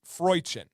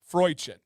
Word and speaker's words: Freuchen: So I've heard it two different ways, depending on, you can do all the YouTube, pronounce here, the Google here. The one that I've heard the most is Freuchen. Freuchen. Now, you know me and my pronunciation. If I say it, it's right.